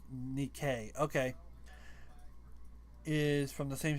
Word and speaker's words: Nikke: Gods of Victory Nike, pronounced Nikkei.